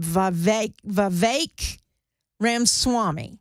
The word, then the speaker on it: Vivek Ramaswamy: Vivek Ramaswamy.